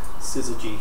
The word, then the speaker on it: syzygy: female that are a syzygy which is another one of these delightful gnostic words that we get to use scissor g it's spelled with z's and y's chromosomes nope no there's